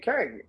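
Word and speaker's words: Qeng: Q-E-N-G, Kang. What is it? I know it's what I know. It looked like it's spelled Kang, just Asian. It's Q-E-N-G, so that's Kang.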